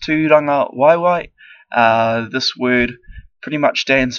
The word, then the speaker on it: Tūrangawaewae: The word of the day is Tūrangawaewae, pronounced Tūrangawaewae.